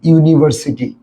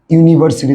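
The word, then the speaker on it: university: আমি একটা তোমাকে কর ইউনিভার্সিটি ইউনিভার্সিটি দেখ ইউনিভার্সিটি উচ্চারণ করতো ইউনিভার্সিটি দেখ ইউনিভার্সিটি ইউনি ইউনিভার্সিটিতে শুরুতে কি আছে দেখতো ইউ আছে না শুরুতে ইউনিভার্সিটির শুরুতে ইউ আছে না এবং উচ্চারণ কার মত হচ্ছে শুরু শুরুর উচ্চারণ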